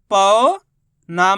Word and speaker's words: पौना: इसी तरीके से पढ़ना आपको पौना, पा के ऊपर जोर लगाना है, पौना, इस तरीके से। ऐसे नहीं पढ़ना आपको पोना। अगर पोना पढ़ दोगे तो ओ की मात्रा का उच्चारण हो जाएगा, तो ये शब्द गलत हो जाएगा।